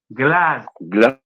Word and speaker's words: glazba: Bueno, la palabra viene de glass, que termina en S, que significa sonido. Y antiguos abstractos. Se produce un encuentro de una S, glass, y una B, va. Acá, ¿quién ejerce influencia sobre la S o la S sobre la B?